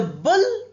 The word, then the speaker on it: bull: The bull pulled the hook. Bull is U and look is O-O. But the pronunciation is the same. Look, bull. Same amount, short oo sound.